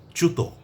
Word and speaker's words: চ্যুত: তো আজকের শব্দটি বলছি চুত। চফলা রসুকার ত এই হচ্ছে চুত। এই শব্দটির উচ্চারণ।